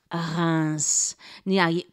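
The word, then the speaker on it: Reims: they make champagne s r-e-i-m-s hans to say it perfectly you have to get your r uh going right it takes some practice but even if you don't do the r exactly right it's okay how about r o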